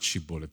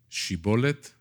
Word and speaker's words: shibboleth: the right way so bible scholars say it's not shibboleth in c bullet it's she bullet and the bullet the